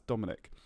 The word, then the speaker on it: Dominic: And so it's like Dom, as in rhymes with bomb, and then in, and then ick, I-C-K, as in ick. I have the ick.